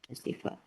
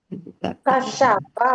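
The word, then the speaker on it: كَشَفَ: Kasifah. Kasyafa, Bu. Bukan kasifah, bukan.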